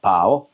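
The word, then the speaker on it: 寶: 보자 발음은 어떻게 삼성입니다. 해 봐. 바오 바오 바오 바오 보자 어떻게 돼요?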